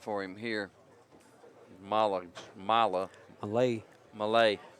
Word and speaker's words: Malaj: Malay. Malay. That that J is is silent and the A is like an I. A A J is like an I. Malay.